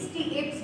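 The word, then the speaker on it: stapes: मानव शरीर की सबसे छोटी अस्थि स्टेप्स है। कहीं कहीं पे स्टीएप्स भी रहता है ना, तो कंफ्यूज मत होइएगा। स्टेप्स स्टीएप्स सब एक है, उच्चारण ध्यान रखिए।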